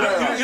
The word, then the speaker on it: Torreira: So it's Torreira, yeah? Yes, You Torreira.